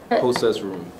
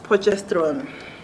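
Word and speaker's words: Potchefstroom: your hot chef room hot chef's room process room process room the actual pronunciation is pochestron so what i said something i heard i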